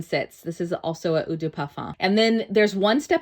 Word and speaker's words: Eau de Parfum: So the next here is actually Eau de Parfum, which, if you're saying it correctly, is actually Eau de Parfum.